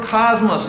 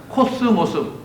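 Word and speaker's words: κόσμος: 영어로는 카스모스 이렇게 발음을 해야겠지만 그리스는 그리스어라면 코스모스, 가을에 피는 꽃 있잖아요.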